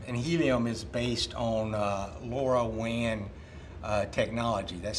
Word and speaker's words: LoRaWAN: So the Featherlight uses a system, really it's using a system called Helium, and Helium is based on LoRaWAN technology. That's spelled L-O-R-A-W-A-N.